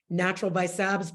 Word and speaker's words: NTRL by Sabs: It's at Natural by Sabs, but it's spelled NTRL by Sabs. No vowels.